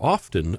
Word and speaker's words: often: intensify rapidly and are often accompanied by heavy snow and strong winds. I really dislike people who pronounce the T in the word often.